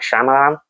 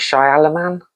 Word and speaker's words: Shyamalan: trap which is written and directed by ight shamalan that's how you say his name ight shy alaman I think that's it I think I'm just